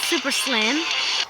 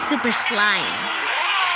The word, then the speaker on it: Super Slime: saying my name wrong it's not super slim it is super slime like you know when you make slime yeah and you see my picture that looks like slime yeah it's super slime so look at Productions